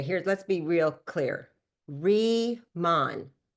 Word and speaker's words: Riman: Remon, not ramen, like ramen noodles. Re re ramen. People say it wrong. Reman, like rebirth, rethink, re-imagine, redefine. You see how it all makes sense? You see the re right there?